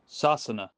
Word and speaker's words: Sasana: The Irish Gaelic name for England is, well, hold on, I actually got an Irish friend, Arthur, to pronounce this one for me. Sasana.